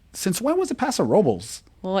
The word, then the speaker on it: Paso Robles: So I always thought it was Robles. And then we get up there and we hear people saying Paso Robles that worked there and that grew up there.